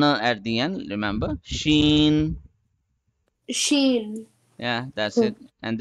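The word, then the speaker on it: شين: Sheen.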